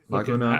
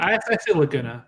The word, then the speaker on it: Laguna: Laguna? I say Laguna, but Laguna? Okay, like Laguna Beach.